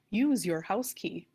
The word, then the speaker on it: Uchihausky: 4k here at robinwood my last name may look hard to pronounce but if you think of the phrase use your house key it becomes a lot easier to say but many prefer to